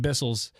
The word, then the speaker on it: Bissell: to vacuum cuz uh I got a new Bissell, you guys. Oh, you did. That whistle did it. We were talking about vacuuming, you know, and and a lot of I I had more listeners recommend Bissells.